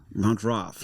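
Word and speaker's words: Mountrath: I thought you meant No, you can pronounce it more properly and go Mont Montra. Montrath like Roth.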